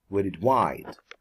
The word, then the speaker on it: worldwide: Okay, worldwide, the stress is on the second syllable, so it would be worldwide.